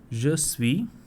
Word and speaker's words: je suis: Je suis. Now I am not just using this last letter S. Je suis. SUI is what I pronounce.